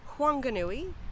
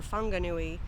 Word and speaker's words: Whanganui: are you hi that concludes my walkthrough of huanganui or whanganui or wanganui the town with three correct pronunciations this is a really fascinating place actually